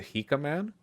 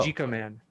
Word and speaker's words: Jika Man: The J is pronounced like an H. Ever heard of a Spanish J? Huh? is that the Hika Man? That's right. The Oh. Jika Man.